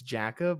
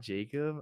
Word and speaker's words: Jackob: weird for saying that it's Jacob not Jacob ugh weird like Kelsey